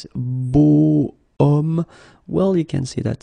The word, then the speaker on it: homme: if you look carefully, you've got H here, okay? And it's not a vowel at all. But then in French, we don't pronounce it.